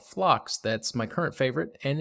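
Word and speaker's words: Phlox: of great ones and one in particular called flocks that's my current favorite and is the one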